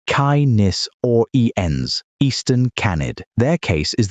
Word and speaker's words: Canis oriens: Canis oriens, pronounced Kai-nis or ens, Eastern Canid.